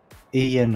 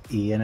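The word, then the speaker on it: Eoin: Ian, I think is how you say it. Oh, Ian. E-O-I-N, yeah, I think it's Ian, how you say it.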